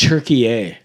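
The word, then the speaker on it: Türkiye: it's Turkey A. It's Turkey A. They That's changed the the name. It's pronunciation.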